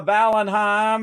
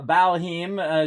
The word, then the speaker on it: Valheim: right now into uh valenheim uh uh or Ashley van heme uh valhim is actually how you say it uh let me